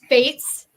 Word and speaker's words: Faatz: by by Fates rhymes with Kates um 14 Stones this